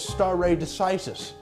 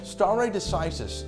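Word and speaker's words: stare decisis: the takeaway point is star a decisis a term I mispronounced about 30 seconds ago star a decisis a fundamental pillar of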